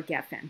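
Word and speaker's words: גפן: Geffen and Gafen is the same word. Geffen is the actual word for a vine, and Gafen is the pronunciation of the word Geffen when it appears at the end of a clause or a sentence in this case.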